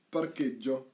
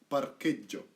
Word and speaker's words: parcheggio: your piazzola or in parcheggio, right? That's the parking lot, parking place. Parcheggio, right? So, hard C because of the H, parche, and double G, soft, because there is no H.